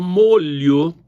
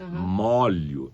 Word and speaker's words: molho: O molho é da comida, sim. Tá. Quando é aquele conjunto de chaves, molho de chaves e não molho, né?